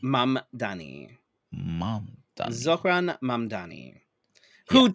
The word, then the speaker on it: Mamdani: Yes, Uh Zoran Mamdani. Madani. Mamdani.